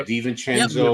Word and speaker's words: DiVincenzo: Yeah, DiVincenzo.